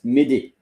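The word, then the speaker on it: m'aider: may And so um it's not the same spelling but is the same pronunciation.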